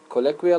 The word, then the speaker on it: colloquial: Number one, colloquial language. Colloquial, no, do not sound it or do not pronounce it colloquial.